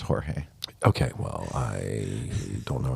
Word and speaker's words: Jorge: George Zimmerman was acquitted for trying to kill Trayvon Martin and uh George Mario Baragio also known as Pope Francis became the pope. So that's pronounced Jorge.